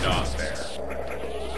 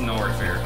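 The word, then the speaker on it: Norfair: Not Fair. Was it Not Fair or No Fair? We called it Not Fair. Okay. Some. It's actually pronounced No Fair, but it's actually pronounced Nor Fair.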